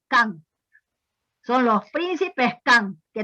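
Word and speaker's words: K'an: ahí estaban los Can, se escribe con KH, es decir, K''AN, Can, son los príncipes Can,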